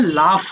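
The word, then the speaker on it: laugh: দেখো এটা আবার পড়তে গেলে উচ্চারণ করতে কষ্ট হয়ে যাবে, লাও হবে মনে হবে না, কিন্তু এটা হবে লাফ, হবে লাস্টে ফ।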